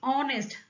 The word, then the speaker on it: honest: देखिए ऑनेस्ट आपने क्या प्रोनाउंस किया, ऑनेस्ट बोला, ओ से स्पेलिंग स्टार्ट होती है इंग्लिश की। अगर आप देखेंगे हिंदी में तो ओ, आगे का वर्ड मैं नहीं लिख रही हूँ, ओ पहला लेटर पकड़ेंगे बस।